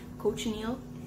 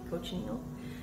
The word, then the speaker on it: cochineal: the boys helping me coach neil that's how you say it coach neil uh bugs i bought